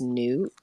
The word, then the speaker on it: Nut: I saw someone in the tag say that Nut is actually pronounced Newt.